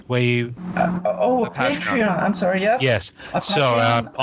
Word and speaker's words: Patreon: do you have a port trayon where you oh patreon I'm sorry yes yes so yeah yeah because of the e in there I read it as Patron but I might be